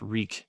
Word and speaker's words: Reek: no Prince your reek just reek it rhymes with freak give him the answer